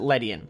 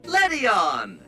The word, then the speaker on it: Ledian: have always pronounced it Lydian letty on apparently I need to hit the light switch in my head from Letty off to Letty on because that's how you